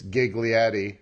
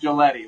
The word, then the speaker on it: Giglietti: for some reason I thought it was always giggly Eddy it's not they whoever gave us that name spelled it wrong I can tell you that it's pronounced Coletti like you said those darn Italians they don't